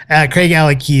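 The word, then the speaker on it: Craigellachie: Craigalackie is the way you really pronounce it.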